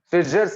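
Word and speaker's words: Schweizer: Pronounce it. Switcher's reagent.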